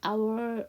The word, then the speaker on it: hour: 그 다음에 여러분 잘 아시듯이 HO로 시작하는 단어는 H가 묵음이죠.